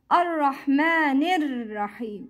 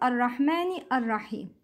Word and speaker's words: الرحمن الرحيم: Ar-Rahmanir Rahim. It's not Ar-Rahmani Ar-Rahim. Don't pronounce Hamzat Al-Wasl.